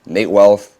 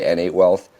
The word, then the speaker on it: n8wealth: known on YouTube as Nate wealth or a lot of people mispronounce it and say anate wealth and my occupation is